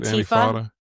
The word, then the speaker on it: Antifa: Antifa.